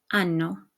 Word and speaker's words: hanno: O, hai, a, abbiamo, avete, hanno. Okay, notice that the H is silent, but we retain it so that you know that it's the conjugated form of avere.